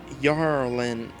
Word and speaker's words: Jorlyn: who believe that had jorlyn lived he may have stood a chance of chilling right over nope this is the one that we read and cuba says it's actually pronounced yarlin i'll take your word